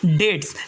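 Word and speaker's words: debts: इसके बाद में नेक्स्ट वर्ड है हमारा डेट्स। डेट का मतलब होता है कर्ज। डेट्स का मतलब होता है कर्ज, इसमें बी साइलेंट है।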